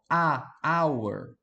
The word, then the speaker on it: hour: E essa palavra aqui, ó, você não pronuncia o H.